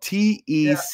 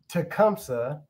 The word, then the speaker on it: Tecumseh: Real quick, for the people, it's spelled T-E-C-U-M-S-E-H. Yeah. I mean, Tecumase. Yeah. But how do you really say it, and how did your recruitment go? Tecumseh. Tecumseh, Oklahoma.